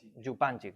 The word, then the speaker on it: Župančič: Evidentemente el marxismo, la escuela eslovena, no sé si lo conocéis, a Zizek y Župančič, ¿cómo se pronuncia esto? Correcto. Župančič, ¿no?